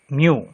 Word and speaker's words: mu: It is denoted by a Greek letter pronounced as mu. M-E-W, mu.